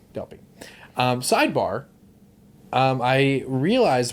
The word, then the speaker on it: Delpy: i feel like i've been saying it wrong delphi delpy um sidebar um i realized while i was